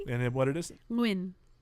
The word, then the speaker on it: Nguyen: Nguyen. Nguyen. Oh yeah, is it the NG? Yeah, it's that weird NG thing.